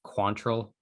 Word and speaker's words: Quantrill: I believe it's Quantrill. That's how they were pronouncing it.